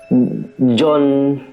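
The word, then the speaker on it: Jeon: So ya guys, Istaka tuh ya kangen banget sama Jion. Dia bilang kangen sama Jion. Jion siapa ya? Jion. Oh, dia baca nama John. Dibacanya John kan? Iya. EO itu dibaca O kayak gitu loh.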